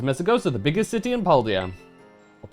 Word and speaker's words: Paldea: It is Mesagoza, the biggest city in Paldea. Or Paldea. I think that's how they officially pronounce it.